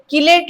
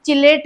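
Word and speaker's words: chelate: अब देखिए एक चीज है यहां पे किलेट लिग्ड क्या बोलेंगे इसको? किलेट जिसको कहीं पे प्रोनाउंस चिलेट भी बोला जाता है।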